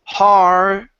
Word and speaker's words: hard: So when we say hard, my tongue goes right under my teeth.